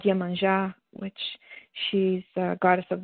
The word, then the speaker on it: Yemanjá: Do you pronounce it again? Yemanjá.